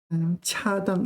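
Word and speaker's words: 恰当: This 当 is fourth tone. 恰当的当恰当 appropriate, fitting, etc.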